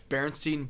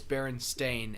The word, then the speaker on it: Berenstain: Berenstein Bears. Everybody thinks it's spelled with an E. Berenstein Bears, but you look at every single book cover, it's Berenstain, Stain.